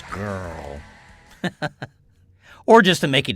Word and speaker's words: Grrrl: That's spelled GRILLGRRRL. So it's Grrrl.